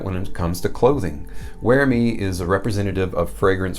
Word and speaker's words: Uermi: house called UerMi, and that's, yes, UerMi, but it's spelled U-E-R-M-I, but it's pronounced UerMi, and it rhymes with UerMi, which is what it's trying to do.